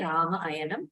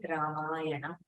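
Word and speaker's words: Rāmāyaṇa: You don't have an option to say Rama ayanam. You have to say Ramayana.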